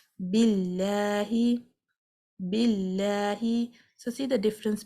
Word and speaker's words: Allah: If this word has a fatha or a dhamma before it, the lam in the middle is pronounced heavily. But if it has a kasra before it, the lam will be pronounced lightly.